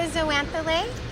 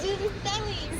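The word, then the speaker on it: zooxanthellae: Is that the zoanthale? It is a zooxanthale. Zoanthale. How do you say it? I've been saying zoanthale. I've been saying zooxanthale. I've heard. Oh, zooxanthale. So zooxanthale and zoanthale is like tomato.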